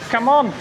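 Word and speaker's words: Cảm ơn: Come on. Is how you say thank you in Vietnamese.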